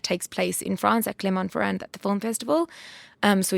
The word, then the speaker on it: Clermont-Ferrand: the beginning of the year, which is in Clermont-Ferrand in France. Okay. It is. I'm pronouncing it incorrectly, Jordy. Sure. it's Clermont-Ferrand.